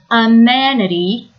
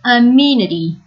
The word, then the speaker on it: amenity: You can pronounce this word as amenity or amenity.